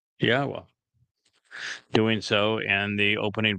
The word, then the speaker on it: Yahweh: It's a significant accomplishment since I painstakingly explained how one can prove that it is in fact pronounced Yahweh.